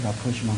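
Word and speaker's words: rapprochement: 발음교. 영어 사전에 그렇게 있다. 영어 사전에 라프로시망, 프랑스말 라프로시망.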